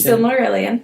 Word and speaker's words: Silmarillion: Silmarillion.